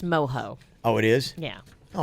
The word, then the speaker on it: mojo: just had like a Mojo Pork thing you know I'm like would he it's pronounced moho oh it is yeah